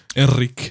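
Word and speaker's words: Henrique: do that with google is that enrique in portuguese yes it is a heavily portuguese pronunciation enrique i don't know i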